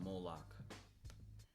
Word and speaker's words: Moloch: It is a mixture of the Babylonian Canaanite cult of Moloch fused with ancient It's pronounced Moloch.